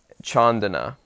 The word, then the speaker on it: Candana: His name is Bhikkhu, which means monk in the Buddhist tradition, Chandana, and it's spelled Candana.